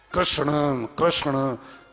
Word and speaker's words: कृष्ण: सभी सब्जेक्ट जाएगी भी कषणा मुश्किल है पर यह कहना मुश्किल है कि क्षण बोलते हैं लोग कृष्ण कहते हैं किस्मत कहते हैं लेकिन कृष्ण शुद्ध नेम उच्चारण बड़ा मुश्किल है कृष्ण का शुद्ध मामले